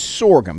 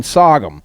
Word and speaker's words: sorghum: of grain sorghum now if you're a yankee it's sorghum here in the south we do not pronounce it sorghum we call it grain sogum however it is a